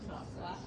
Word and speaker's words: softener: Fabric softener.